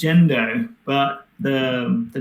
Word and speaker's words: Gendo: It's pronounced Jendo, but the the name um comes from Well, this is I might have a very halfbaked story to be honest.